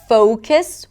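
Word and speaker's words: focus: Or 'fo(w)cus', with a W sound.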